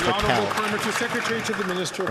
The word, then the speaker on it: Raquel: A lot of people say her name is Rachel. It's Raquel.